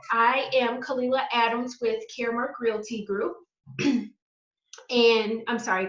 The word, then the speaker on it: Caremark: Carmark. Caremark. I always want to say Carmark because it's spelled C-A-R-M-A-R. Everybody says Carmark. It's funny. Yeah. Yes, but here, this is the logo, Caremark.